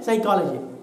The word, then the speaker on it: psychology: The word psychology begins with P, but we say psychology. P is silent.